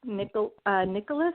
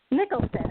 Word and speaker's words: Nicholson: You know, like I think about that movie Something's Gotta Give, which is with Diane Keaton and Jack Nicholas. Am I saying it right? Nicholson.